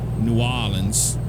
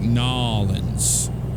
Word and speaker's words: New Orleans: New Orleans. But you can say it like Nolans.